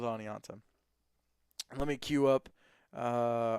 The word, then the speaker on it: Oneonta: build out of Oneonta is it Oneonta I was told I was saying it wrong oniononta okay maybe are you sure it's not Oneonta Oneonta okay all right we'll go with Oneonta let me queue up